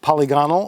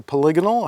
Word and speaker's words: polygonal: course has the uh polygonal or polygonal however you'd like to pronounce it rifling um which is